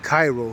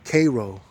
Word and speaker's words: Cairo: It's spelled the right way as Cairo, but it's like spelled out like, or says, they say it as or pronounce it as Kay, you know, Cairo.